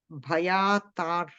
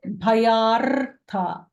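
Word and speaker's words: भयार्ताः: So we don't pronounce the Ra doesn't come because in the script that Bhayatar, we don't say the Ra. We should say the Bhayartha.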